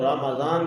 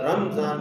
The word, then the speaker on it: رمضان: رمضان کے ساتھ پکارے، رمضان کے ساتھ نہیں، میم کے اوپر جزم کے ساتھ نہیں، میم کے اوپر زبر کے ساتھ۔ یہ بعض لوگوں کی غلطی کرتے ہیں، بلکہ اکثر لوگ غلطی کرتے ہیں، رمضان بولتے ہیں۔ دوسرا یہ ہے کہ